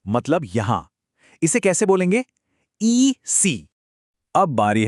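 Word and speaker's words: ici: ई सी।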